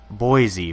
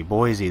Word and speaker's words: Boise: idaho something like that boise boise there we go something like that boise